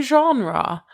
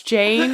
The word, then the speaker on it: genre: I went, "Do you mean genre?" And he was like, "No, it's Gene." I was like, "How do you want to spell that?" And he was like, "Oh, I don't know, Gean." I went, "Well, yeah, that is how you spell Gene. But it's actually called a genre of music."